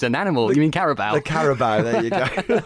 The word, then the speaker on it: Carabao: I think the FA Cup's good, but the Caribou's an animal. You mean Carabao?